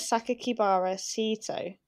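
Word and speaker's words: 酒鬼薔薇聖斗: included a sixth character name that can be pronounced as sakakibara sito the same characters which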